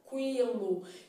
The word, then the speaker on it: tranquilo: tranquilo tá vendo Então na palavra tranquilo eu estou vendo que a letra u é pronunciada de forma fraca mas a gente tem